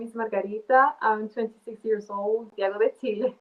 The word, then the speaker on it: Margarita: Wait, so your name is Margarita? That's how you pronounce it. That's correct pronunciation. So, it's like the pizza or the cocktail, but interesting.